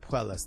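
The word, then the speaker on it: Puelles: Puellas.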